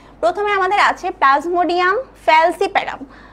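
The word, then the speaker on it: Plasmodium falciparum: করে পড়ার যে নামগুলো কি প্রথমে আমাদের আছে প্লাজমোডিয়াম ফ্যালসিপেরাম প্লাজমোডিয়াম ফ্যালসিপেরাম সবাই উচ্চারণ করবে নিজে নিজে ঠিক আছে প্লাজমোডিয়াম ফ্যালসিপেরাম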